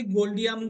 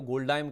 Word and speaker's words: Goldiam: बाद में मुझे नहीं पता, बट प्रोमोटर खुद भी प्रोनाउंस इसको गोल्डियम ही बोलते हैं।